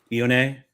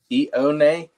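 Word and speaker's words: Ioane: How do you say his name, Eddie? Ione. Ione. That's his last name.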